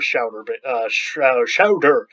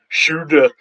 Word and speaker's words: Schauder: Does the set of continuous functions actually have a Schauder basis? This is a name. Schauder is probably the right way of pronouncing it, but I'm going to say Schauder.